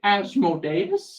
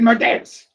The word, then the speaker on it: Asmodeus: did you say Asmodeus? No, I said Modeus. Oh, just Modeus. That's how he pronounced it.